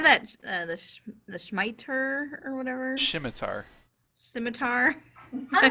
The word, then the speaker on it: scimitar: I said scimitar in the Narnia books. And I always thought it was Shimtar.